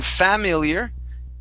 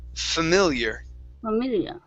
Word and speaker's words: familiar: word familiar okay so here you want to use your schwa sound at the beginning instead of saying familiar it's familiar there you go one more